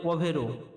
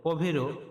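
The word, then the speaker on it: povero: ধনী ধ্বনির পরে পরে রয়েছে গরীব গরীবের ইতালিয়ান উচ্চারণ হবে পরে পভেরো পভেরো মানে গরীব ঋক্ মানে ধনী পভেরো মানে গরীব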